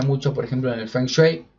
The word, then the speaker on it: feng shui: packato se utiliza mucho por ejemplo en el feng shui funksway como lo quieran pronunciar que es cómo se configuran o cómo